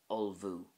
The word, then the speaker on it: ullmhú: The word or verb to prepare is ulvu.